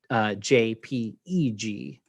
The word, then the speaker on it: JPEG: sometimes spelled as j j p e g um you pronounce both of them jpeg and they're the same